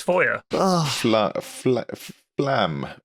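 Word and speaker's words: Feuer: word for fire in Foy in German it's foyer FL FL flam F foyer it's literally fire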